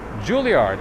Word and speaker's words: Juilliard: Juilliard, absolutely.